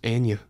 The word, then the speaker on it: Anya: Jane Austen yeah I love on YouTube It's pronounced Anya she's my celebrity crush don't tell anybody as